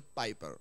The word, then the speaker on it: Piper: Dice un autor, John Piper, o Piper, como decimos Una vez yo dije Piper y alguien me corrigió y me dijo, no se dice Piper, se dice Piper.